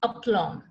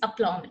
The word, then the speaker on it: aplomb: B is silent, aplomb. That's how it's pronounced, aplomb. A-P-L-O-M-B. B is silent, aplomb.